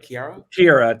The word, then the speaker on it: Kiara: My Gone Too Soon goddess is Kiara. That's how you say it, right? Kira, technically. Kira.